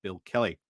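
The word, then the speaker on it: Billericay: Durham all the way down to Basildon and Bill Kelly.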